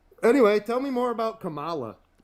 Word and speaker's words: Kamala: Tomato. Tomato. It's not It's literally It's literally You purposefully miss It's purposefully mispronouncing your name. That's just how I say it. That's how I identify. I identify as saying Camala and not Camela.